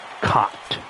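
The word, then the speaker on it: Kaat: It's not pronounced cat, it's Cott.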